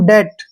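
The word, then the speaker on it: debt: गया ठीक है ना टी से पहले अगर बी आता है तो वहां पर बी साइलेंट होगा मतलब ये कि बी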